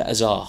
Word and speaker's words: Hazard: We were talking about Eden Hazard, and he decided to drop both the H and the D. I didn't. From the word hazard.